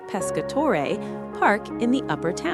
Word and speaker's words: Pescatore: the valley up to the beautiful Pescatore, pronounced Pescatore, park in the upper town.